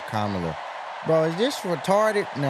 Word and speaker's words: Kamala: Put it together and it's 1, 2, 3, Kamala. All right, so let's practice. Let's practice. Everybody over here say comma. Everybody over here say la.